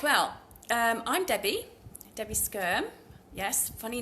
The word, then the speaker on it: Skyrme: Right, well, I'm Debbie Skyrme. Yes, funny name, but that's how you pronounce it. Debbie Skyrme.